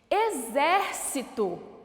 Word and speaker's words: exército: ela é uma proparoxítona exército tem acentuação sim no ver olha o x som de z exército Então ela também é